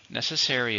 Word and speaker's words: necessary: you have to do necessary is a adjective how many syllables necessary for stress on the first one food and water are